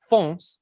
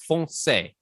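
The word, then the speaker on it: foncé: france the dark territory pronouncing fonts with one syllable in french it ought to be fonsey two syllables furthermore the word dark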